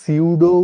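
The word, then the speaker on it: pseudo: সুডোকে ইংলিশে লিখে ভাবেন। এটাকে আমরা সিউডো উচ্চারণ করতে পারি।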